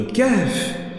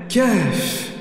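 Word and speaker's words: كهف: Remarquez que dans la prononciation de Kahf, Kahf, Kahf, vous avez un souffle qui entre dans la poitrine puis ressort.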